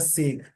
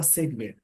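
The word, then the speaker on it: segue: ऑफ the optical practical training programme है, that offer करता है, एक ऑफर करता है सेग। हालांकि इसको बोलते हैं सेगवे बोलते हैं, इस वर्ड का प्रोनाउंसिएशन होगा सेगवे।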